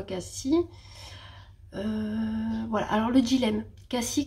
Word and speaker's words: Cassis: Ça s'écrit Cassis, mais dans le sud on dit Cassis, apparemment. Moi j'ai toujours dit Cassis. Des fois j'ai dit Cassis parce que j'avais un doute, mais c'est vraiment Cassis.